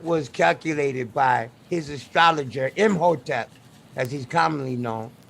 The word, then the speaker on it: Imhotep: calculated by his astrologer imhotep as he's commonly known i am hetero that's how i say his name the chart is for